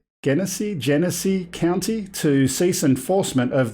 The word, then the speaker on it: Genesee: know if I'm going to pronounce this correctly, Genesee County to cease enforcement of their unlawful drone ordinance. How do you say it? Genesee, okay.